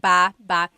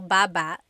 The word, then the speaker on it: baba: So depending on how you're saying it, it could be ba chin baba. Emphasis is on the first syllable. Baba. Then there's baba baba. Emphasis is on the second syllable syllable. That means to go down.